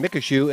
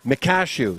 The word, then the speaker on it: Mekashu: the kids' names properly, I've been pronouncing Oscar's improperly since I've been announcing. I've been saying Mekashu, and really it's Mekashu.